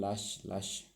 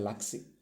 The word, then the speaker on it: Laxe: Pero haber dicho el apellido bien, Lash, algo por el estilo, ¿no? Yo antes le decía Laxe, pero no se dice Laxe. No tengo entendido que no se dice Laxe, y disculpen que no sé gallego, entonces tal vez mi pronunciación no sea la mejor.